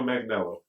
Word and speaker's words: Manganiello: Joe Manganiello.